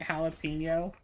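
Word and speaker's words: jalapeño: way for years cuz the J is silent in jalapeno so I've been pronouncing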